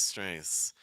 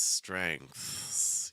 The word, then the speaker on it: strengths: If you don't hold the TH long enough, you're just going to sound strengths, strengths. But it's not strengths, it's strengths. You have to have that TH in there in general when you're pronouncing that.